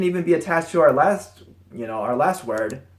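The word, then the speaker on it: 了: or it can even be attached to our last you know our last word or for birds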